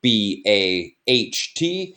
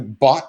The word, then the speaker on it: baht: It's spelled B-A-H-T. It's pronounced baht, but that is how you would go up to someone and say, "Hi, I'd like to baht something."